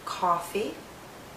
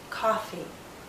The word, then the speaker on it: coffee: is pushed backward more if you hear a coffee the lips are more relaxed and the tongue may be more forward coffee coffee listen as I read